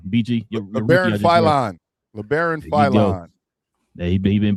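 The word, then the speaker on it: Labaron Philon: So y'all drafted how you pronounce his name? BG. LeBaron Philon.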